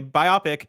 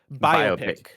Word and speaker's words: biopic: the stickler wrote in to say biopic is pronounced biopic. Yes, I always mispronounce that. No, you're not mispronouncing it. It's either way, just like data and data. Data and data.